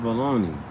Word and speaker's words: bologna: that pronounced baloney it ain't got no e or a y or why is that called baloney that is spelled b o l o GNA let's